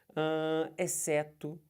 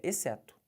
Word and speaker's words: exceto: antes de ir beleza exceto tá vendo eu não falei certo Não faça isso é exceto Olha o NH aqui